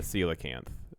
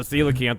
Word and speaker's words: coelacanth: just found is still alive oh really the coelacanth and it's it's spelled c o e l e c o